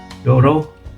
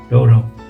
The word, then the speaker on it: 道路: So if I were to write road in katakana, I think it would be like Rodo, yeah, and then this pronunciation for this kanji that means road is the reverse, right? Doro, yeah. So I guess it is pretty easy to remember.